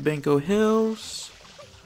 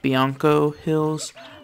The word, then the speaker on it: Bianco Hills: in there cool so we made it to banco hills and just so you know my wife has told me that it's pronounced bianco hills uh you know i've been calling it banco